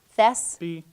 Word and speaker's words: thespian: It's 3 syllables. Thespian.